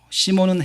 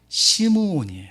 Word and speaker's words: 시므온: 시몬이 자나 시몬 베드로 시몬은 헬라 식 바람 이고요 히브리 식 발음은 시므온이 신문 야곱의 아들 시몬